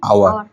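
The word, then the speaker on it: hour: অ্যান আওয়ার। It shows an আওয়ার। এস এর উচ্চারণ হয় না, ও এর উচ্চারণ হয়েছে।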